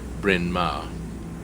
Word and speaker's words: Bryn Mawr: Hence the funny name, pronounced Bryn Mawr.